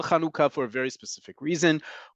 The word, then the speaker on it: Hanukkah: I know there's a tendency among especially fellow Americans be they Jewish or not to pronounce this holiday like Hanukah folks Hanah in modern Hebrew is breastfeeding it is the act of breastfeeding no less miraculous no less important but that is not the name of this holiday in modern Hebrew hanaka means breastfeeding the act of breastfeeding this holiday is called kanuka okay and it's called